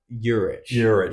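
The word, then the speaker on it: Jurić: He's got Jovic, is that how you say it? No, Juric. Sorry.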